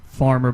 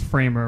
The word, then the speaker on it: framer: yeah actually I think I pronounced the name wrong I don't know why I called it farmer but it's framer right framer yep yep and